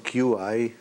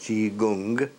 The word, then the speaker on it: Qigong: Chinese Qigong, that's the right pronunciation, Qigong, which is pronounced Qigong, is an ancient science of, on the one hand, exercise, Tai Chi.